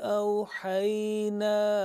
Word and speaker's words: أَوْحَيْنَا: Umamun litatluwa alayhimul ladhi awhayna ilayk.